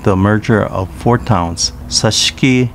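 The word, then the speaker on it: Sashiki: in 2006 with the merger of four towns sashki chinang tamagusuku and ozato pronounced sashi chining tamagushku and ufujatu respectively in uchinanguchi town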